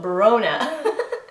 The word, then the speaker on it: Bronagh: but if you want to pronounce Bronagh, just put the bro in front of, so Bronagh. Deirdre.